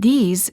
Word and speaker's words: these: sound and a s the word these is plural and is pronounced with a long vowel e and a z sound this these I like